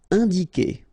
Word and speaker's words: indiquer: All right, keep in mind that when you get this Q and U after, and obviously a vowel, then U is not pronounced at all. Okay, so it's K here. You don't pronounce the U.